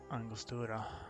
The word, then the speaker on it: Angostura: So my instinct to pronounce that in a Spanish way was correct.